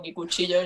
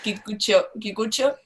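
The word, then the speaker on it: Kikuchiyo: ellas, como cuando Kikuchi, es que yo lo pronuncio muy mal, yo lo pronuncio al Spanish, digo Kikuchillo y no está bien, Kikucho, como él los persigue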